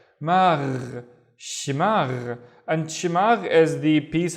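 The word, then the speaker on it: شماغ: The first syllable, she. The second syllable is magh. So we have the gh at the end, the one with the gargling, right? Magh. Shimagh.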